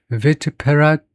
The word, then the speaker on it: vituperative: Vituperative. 그러니까 여기서부터 발음을 먼저 해야 됩니다. Tuperative. 앞에 VI를 빼놓고 Tuperative를 먼저 해놓고 vituperative. 그래서 그 앞에다가 vi를 잠깐 붙이고 vituperative.